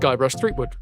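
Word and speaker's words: Guybrush Threepwood: So this is Guybras uh Thwood pronounced Guy Brush Threewood.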